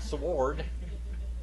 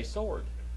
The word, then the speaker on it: sword: say that word huh it's not sword you say sword sword all right and there you swallow the w all right so it's